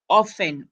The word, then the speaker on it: often: it's words like um often often when you pronounce often you pronounce it as often but when you write it you write often the t is silent so even here The